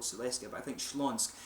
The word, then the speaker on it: Śląsk: I think it was in Silesia basically, or what used to be called Silesia, but I think Śląsk is how they say it in Polish.